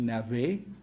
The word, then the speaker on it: Navez: This is François-Joseph Navès, sometimes pronounced Navet.